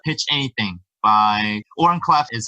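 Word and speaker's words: Oren Klaff: there's a great book called Pitch Anything by Oren Clef is how you pronounce it.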